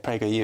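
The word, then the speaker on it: PragerU: created by Dennis Prager and it's a conservative prer you rather than I mispronounced mispronouncing bad as misgender well it depends who you ask I suppose um um but it's it's Prager you it's a it's it's a um educational Channel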